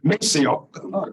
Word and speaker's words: Maceo: He became known and pronounced Maceo. That's where Maceo comes from.